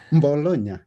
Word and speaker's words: Bologna: Bologna, and you pronounce it good.